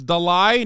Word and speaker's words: Dalai: the it's Dolly it's Dalai not Dolly stop am I saying